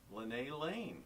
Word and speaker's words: Linne Lane: Our next guest is Linne Lane, right?